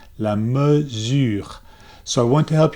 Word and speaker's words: mesure: pronunciation might say la measure because they're thinking about the english word measure right so they say la merger it's not la me it's so the e is pronounced and then for the